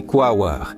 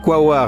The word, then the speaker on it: Quaoar: Beaucoup de gens, en prononçant ce nom, mettent l'accent sur la dernière syllabe, ce qui n'est pas correct.